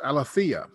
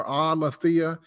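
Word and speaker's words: ἀλήθεια: I'll pronounce it wrong probably, but it's aletheia.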